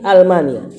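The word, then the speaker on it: ألمانيا: Min Almania, Almania itu Jerman, itu A-nya bukan alif lam. Hamzah qat'i. Jadi bacanya min Almania.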